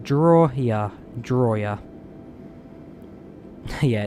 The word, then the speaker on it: Drawyah: in the grub glider my name's pronounced drawya belly landing not yet